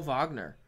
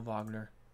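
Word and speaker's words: Wagner: number Laker Laker Mo vogner I think that's how you pronounce his name it's a dub you but I think it's you have to say as a V like Dirk Nowitzki maybe I got misinformation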